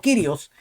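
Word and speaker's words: κύριος: el kirios nosotros decíamos curios pero ahora rico nos ha corregido que él se encontró una persona en Grecia que le dijo que la pronunciación correcta No es curios sino kirios Entonces al cesta se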